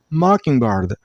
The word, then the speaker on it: mockingbird: And stress on the first syllable, I mean on mock sound, mockingbird, mockingbird. Now the last word is this one.